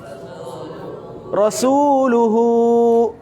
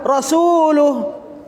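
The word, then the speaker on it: رسوله: balik jadi dhommah panjang Bagaimana cara bacanya Rasul uhu tadi Rasulullah Kenapa hurufnya sekarang dibaca panjang Karena harokatnya adalah domba panjang ini benar tidak kalau saat baca Rasulullah salah kenapa salah karena Honya harus di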